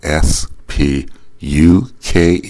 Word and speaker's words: Spuk: of them have the last name it's spelled s p u k pronounced spuk people I mentioned this everyone in Pittsburgh